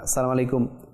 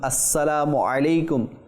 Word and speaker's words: আসসালামু আলাইকুম: অনেকে সঠিকভাবে উচ্চারণ করে না। সালামু আলাইকুম। সালামু আলাইকুম। তো অনেকভাবে বলে। কিন্তু সঠিক মাখরাজ উচ্চারণ না হলে এটা দোয়া কিভাবে হবে? এটা নেকি কিভাবে হবে? আপনি সালাম দিবেন কিন্তু এর মাধ্যমে নেকি অর্জিত হবে না। তো সঠিক উচ্চারণ আসসালামু আলাইকুম ওয়ারাহমাতুল্লাহি ওয়াবারাকাতুহু।